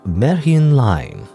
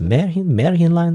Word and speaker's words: Märchen: I do believe it's pronounced Märchen Line. I won't say Märchen Line, Märchen Line. I believe it's German or fairy tale, Anyway, we're on a phone.